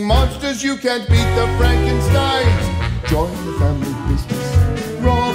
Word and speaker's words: Frankenstein: That's Frankenstein. My name is pronounced Frankenstein.